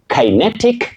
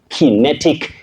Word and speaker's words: kinetic: Now, the last one on the screen, you say kinetic energy. You can also say key. So, kai and key are acceptable as alternatives. Kinetic energy or kinetic energy.